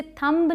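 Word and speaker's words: thumb: टी एच यू एम बी अंगूठा के लिए। इसे थंब नहीं बोलते। थंब ठीक है? थंब लिखना हो तो हम बोलेंगे थंब। ब नहीं आएगा।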